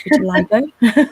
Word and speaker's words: vitiligo: I have finally got to learn the right way to say it, which is vitiligo.